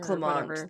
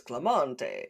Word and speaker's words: Clement: No, you're probably right with Clement then cuz then you if it's French you probably wouldn't pronounce the E as Clemente at the end like Italians do.